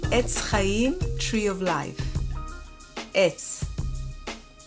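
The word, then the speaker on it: עץ: vowel, the vowel, and the ein is silent without a vowel, so it's going to get the vowel, so it's going to be etz.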